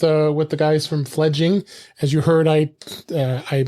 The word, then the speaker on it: Fledging: name I did I I called it fledgling I didn't know why but it is spelled uh f e f l e d g i n g so it's fledging um so uh uh